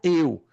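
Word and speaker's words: εὖ: Eu é a maneira como se escreve no grego, porque o alfabeto grego é diferente, mas se pronuncia eu.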